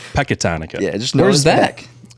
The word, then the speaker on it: Pecatonica: Yeah, and then we got our boy here from Pecatonica. Is that saying it right? That's correct. Patatonica? Pecatonica.